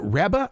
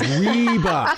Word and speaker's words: Reba: said who is it rebba rebba is that how you say it and he goes reeba so I I've been